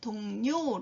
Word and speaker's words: 동료: 동료 라는 말도 있습니다 동전은 발음할 때 동료 라고 해야 되는것 기억하시고 요 동료는 같은 직장이나 같은